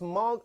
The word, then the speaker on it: Moog: pronounce mug or Moog you pronounce muck you pronounce mark like like rock mug because it is actually a Dutch name I had no idea